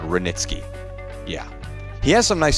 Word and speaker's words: Hranitzky: Yeah, that's either a silent H or a really loud Hranitzky.